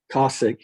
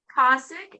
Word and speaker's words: Kasick: Too Slim and the Taildraggers are Tim Too Slim Langford on guitar vocals, Zach Kasick, is that how you say it? Cossack, yeah. Kosick on bass and vocal, and then Jeff Shaky Folks, yep.